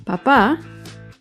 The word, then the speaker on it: papá: la primera sílaba en cambio papá lleva el acento en la segunda sílaba la primera palabra papá